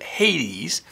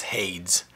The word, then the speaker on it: Hades: that is the word Hades. Some say the pronunciation is Hades because there's a Greek god who is pronounced, the name is Hades or Hades.